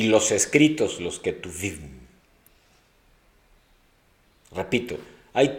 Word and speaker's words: Ketuvim: Nevi'im; y los escritos, Ketuvim, con K de kilo y V de vaca, Ketuvim.